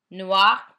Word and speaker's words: noir: Black is the same, an E added in the feminine form. Noir, noir. It remains the same in pronunciation.